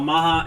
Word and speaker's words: Maha: Maha. M A H A. Uh, is it spelled right? I like how it's spelled like Baja Blast.